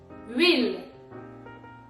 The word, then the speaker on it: huile: For this recipe you will need un chou-fleur, un citron, citron, olive oil, huile. Yeah, there's an H in it, but you don't pronounce it.